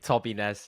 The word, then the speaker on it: Tobines: what's going on man it's actually toby ness is how you pronounce it toby ness toby ness